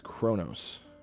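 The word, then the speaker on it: Qo'noS: them to nail down that was Kronos q-o-n-o-s Chronos is the actual pronunciation but the original called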